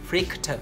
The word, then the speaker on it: freaked: Freaked out, verb to be นะคะบวกกับ freaked ed แล้วก็ out เนี่ยจะแปลว่าสติแตกลนลานนะคะเวลาออกเสียงนะคะออกเสียงว่า freaked นะคะ freak แล้วก็เป็น ter freaked ter นะ freaked ter freaked out.